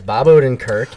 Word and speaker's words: Bob Odenkirk: It was so, and I don't want to get his name wrong. Is it Bob Odenkirk? It is Bob Odenkirk.